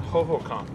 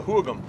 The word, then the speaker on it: Hohokam: Rather, you know about the ancient Hohokam, rather, I mean, they don't even pronounce it right, the Hoogum.